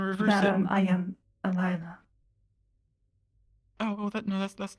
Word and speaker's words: Alyla: It's Alyla.